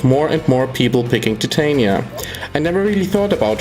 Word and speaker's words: Titania: a closer look at titania and yes I will use the Shakespearean way of pronouncing her name caller like the fourth